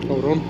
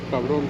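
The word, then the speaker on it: cabrón: How do you say bastards again? In Spanish? Cabron. Caron? Cabron. Carone, right?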